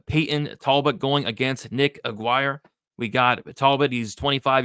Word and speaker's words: Aguirre: We have Payton Talbott going against Nick Aguirre. We got Talbott. He's 25 years old, 5'10" with a 70-inch reach. Nick, am I saying that right? Aguirre? Aguirre. It's Aguirre.